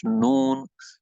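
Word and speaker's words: ن: So next word is the noon. Got the same makharij as that of the lam and ra, with the difference that noon got the volume of the front six teeth. Right, the volume of the tongue, which will strike here, should be equal to the front six teeth. Right. So the voice will go into the nose.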